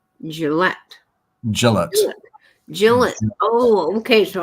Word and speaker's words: Gillette: it's actually um gillet Gillette gillet gillet oh okay so I've been saying it wrong too well good thank you nature for us on top of our pronunciation game I I think it's j well if it's not